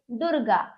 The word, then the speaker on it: दुर्गा: अंत में लगा है परंतु इसका जो उच्चारण है र का स्वर जो है ध्वनि जो उत्पन्न हो रही है वो बीच में हो रही है दुर्गा ठीक है देखिए दुर्गा उच्चारण इन दोनों के बीच में ग और द के